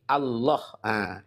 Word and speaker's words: Allah: Kaidahnya dalam bahasa Arab, kaidah bahasa Arab ya, bahwa ketika lam ketemu lam harus dibaca tebal, tafkhim atau idgham, ya. Sehingga pembacaannya, pelafalannya adalah harus ini Allah.